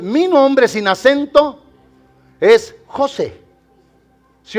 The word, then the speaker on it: José: Mire, yo me llamo José, ¿da? Bueno, no estoy dudando, me llamo José, ¿ok? Y mi nombre tiene un acento en la E.